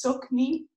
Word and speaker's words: Tsoknyi: a contemporary Tibetan teacher his name is spelled in a very funny way but it is silk me Rinpoche and so clear appreciated